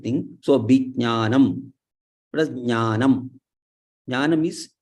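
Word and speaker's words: विज्ञानम्: So there, ja and nya are combined. Ja and nya. There's cha cha ja cha nya. So that ja is the third letter there, and nya is the last letter there. In that same chavarga, it is ja is the third one, and nya is the Anunasika one. So vijnanam, vijnanam. So there is slight pronunciation of ja also.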